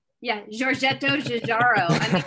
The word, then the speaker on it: Giugiaro: It's definitely so this tire is like designed by Jajaro. And you're like, okay. She pronounced it correctly. Yeah, Giorgetto Giugiaro.